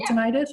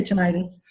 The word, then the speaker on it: tinnitus: name a Brutus I believe that had the tinnitus or tinnitus we say tinnitus he said when he was discussing his tinnitus